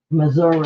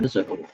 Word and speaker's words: Missouri: And the state of Missouri. Missouri. I don't want to offend anyone from Missouri. That is the way they pronounce it, at least according to my father, who was born there.